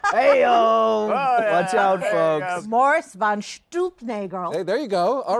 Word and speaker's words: von Stuelpnagel: this play, and the magnificent star, Stephen Boyer, It's pronounced von Stuelpnagel.